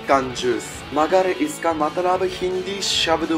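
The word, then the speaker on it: 缶ジュース: We pronounce this word as कंजूस.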